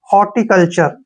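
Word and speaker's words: horticulture: है ठीक है ना अब यहां पर देखिए सीओ को हम क पढ़ते हैं ऐसे एल को ल पढ़ते हैं और टीय का उच्चारण हम यहां पर च के रूप में करते हैं ठीक है ना और आरई का उच्चारण र करेंगे यह बन गया हमारा कल्चर हॉर्टिकल्चर ठीक है ना हॉर्टिकल्चर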